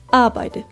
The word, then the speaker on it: arbejde: d som dør og ø som øm æ udtales ikke så ikke arbejde og ikke arbejde arbejde arbejde ansættelse anelse Vi starter med a som altid